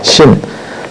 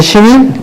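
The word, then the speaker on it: Sin: 달신, 내 이름이 뭐였냐면 신이에요. 네, 신, S-I-N, 신. 영어의 죄 뭐 그거 같은데 네. 신입니다. S-H-I-N이라고 쓰기도 하고 뭐 그 동네 발음이니까요.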